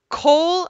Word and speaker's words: Cole: coal that'll work Oh Cole I could spell it co le but but you say it like coal cold yeah hmm you might